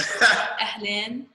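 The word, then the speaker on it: أهلاً: So it's like AHLEN. Ahlan. Ahlan. Len. Ahlan. Yeah. Like say like almost like lane. Len. Say it like LEN, like stretch the E.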